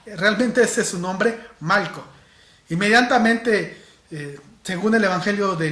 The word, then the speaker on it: Malco: Y sí, estoy pronunciando bien Malco. No es que me esté saliendo mi acento caribeño y que no pueda pronunciar la R. Oye chico, Malco. No, realmente ese es su nombre, Malco.